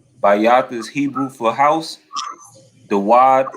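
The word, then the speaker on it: דוד: Dawad is how you say David in the Hebrew.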